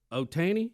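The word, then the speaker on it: Ohtani: correct Speedy has given me the way to pronounce it shoh Otani Otani Otani I'm gonna put a o there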